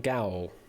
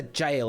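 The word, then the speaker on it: gaol: I know I'm probably mispronouncing Gal there. Gail out of time. Looking for Oscar Wild J. Of course it's a jail, isn't it? Of course it's a bloody jail. Imprisoned. It should be jail.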